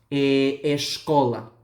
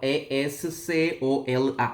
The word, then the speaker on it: escola: Pero cuando la S está entre vocal y consonante en el portugués, el sonido de la S pasa a ser SH, ¿no?